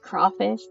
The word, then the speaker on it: crayfish: Crayfish pronounced crawfish. Crawfish, but it's spelled crayfish.